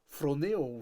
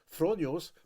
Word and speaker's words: φρονέω: l'état de nos pensées, c'est le mot phronéo, ce que plusieurs personnes peut-être le prononcent phronios, mais c'est phronéo.